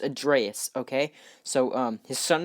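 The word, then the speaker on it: Atreus: old Kratos and his son a dress not a Trias people keep saying a Trias but in the game it's pronounced ad Reyes okay so his son add Reyes basically what they're trying to do is they're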